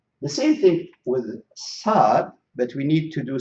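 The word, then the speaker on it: ص: So these letters, they should be pronounced. We have to push the tip of the tongue to the bottom of our lower front teeth.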